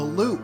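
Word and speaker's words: Lup: was from and it's called The Loop but it's spelled l u p and the loop everyone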